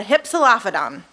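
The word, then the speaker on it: Hypsilophodon: about this dinosaur over here who is the hypsolaphadon and i made sure that that was going to be pronounced correctly so the hypsolaphadon was a smaller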